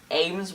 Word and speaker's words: Ames: like a Q&A, and her hashtag for that was Ask Katrina Ames with like AIMS, because she wanted people to remember how to pronounce the name. I tried. Yeah, Ames, it's like aiming.